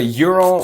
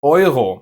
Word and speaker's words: Euro: So, this is not a Euro or Euro, but Euro in German.